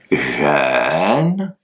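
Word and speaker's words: 人: Il s'agit pas de dire jeûne, il s'agit pas de dire run, c'est un entre les deux.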